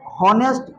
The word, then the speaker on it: honest: जैसे हॉनेस्ट जो होता है, ऑनेस्ट जो होता है, ऑनेस्ट, ऑनेस्ट में एच साइलेंट होता है, ऑनेस्ट पढ़ाता है। हम लोग इसको अगर समझ बूझ के याद करेंगे तो HONEST मैंने ईमानदारी से पढ़ेंगे तो हॉनेस्ट पढ़ना चाहिए, है कि नहीं?